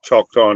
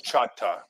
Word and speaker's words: Choctaw: I went through Stone Mountain, went through Choctaw Nation. Oh, nice. Yeah, most of the outside world calls it Choctaw, but it's actually pronounced Chata.